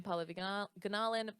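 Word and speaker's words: Pallavi Gunalan: I'm Paula Ganalin, PALLAVIGUNALAN. And I'm really on all the things. is spelled.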